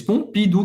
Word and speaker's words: Pompidou: Pompidou. Pompidou. O M tem o som do e o U, a gente já viu, tem o som do U, da letra U em português. Pompidou, que era um presidente francês.